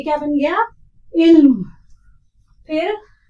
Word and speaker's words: इल्म: देखो, ऐन की ऐन लामजेर इल और मीम की आवाज म, मीम साकिन रहेगा, इस पे जेर जबर नहीं रहेगा। तो ये क्या बन गया? इल्म।